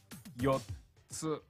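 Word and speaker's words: よっつ: Yotsu. Yotsu. Think of four yo-yos. Yotsu.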